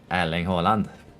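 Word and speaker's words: Erling Haaland: for Alan Holland uh depends on where you're from in Norway because we have a lot of dialects uh some might call them Allen Holland others might call them airling Holland so depends but generally uh again you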